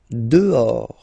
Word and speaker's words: dehors: Dehors. Okay, so remember, final S not pronounced, and then this H in French doesn't exist phonetically, so you don't pronounce it.